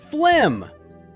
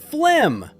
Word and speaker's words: phlegm: Phlegm. Phlegm.